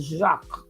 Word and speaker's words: Jacques: we see a qualm when you see a jack it's jacques that's right it's a french name yes it is now